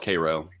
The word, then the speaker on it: Cairo: It's spelled Cairo, but they call it Cairo. Cairo, Georgia.